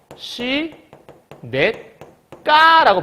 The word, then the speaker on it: 시냇가: 마찬가지야 뭐가 책인 거냐면 시냇가에 발음하잖아 그러면 C 넷까라고 발음하잖아 그럼 시내 플러스 가인데 여기 보니까 기억이 싼 기억이 됐단 말이에요 그렇죠 어 기억에 쌍기역됐지 이걸 우리가 된 소리라고